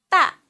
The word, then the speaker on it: 大: 大的 a with fourth tongue, 啊的 a 大的 a 大大大 means big.